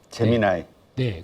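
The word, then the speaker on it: Gemini: 우리도 갖고 있다라고 얘기를 하면서 딱 발표했던게 한국 발음은 재미니 제미나이네 그리고 미국 발음은 제미나이네 그래서 어 재미 나이라고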